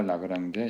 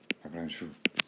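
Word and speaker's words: Lagrange: 리스트 액션 프린시플 적용을 하면은 이제 오일러 라그랑제 이퀘이션이 나오는 거고, 오일러 라그랑주 프랑스 사람이니까 라그랑주 발음하죠.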